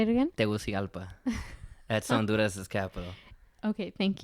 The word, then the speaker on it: Tegucigalpa: I'm not sure that I'm going to pronounce this right. Tegucigalpa. Say it again? Tegucigalpa.